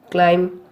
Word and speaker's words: climb: B is not pronounced after M at the end of a word. For example, limb, crumb, dumb, comb, bomb, thumb, climb, tom.